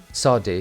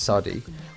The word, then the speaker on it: Saudi: Saudi, that's how you say it, Saudi.